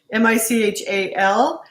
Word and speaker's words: Michal: her name is spelled m-i-c-h-a-l we looked it up in hebrews not michelle or mikhail mahel it sounds like michelle so anyway that's who